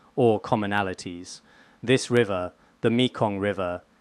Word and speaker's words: Mekong: This river, the Mikong River, did I say it correctly?